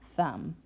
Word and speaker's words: thumb: All of these words, it's a little tricky because you want to say the B sound, but you don't. The B is the silent letter.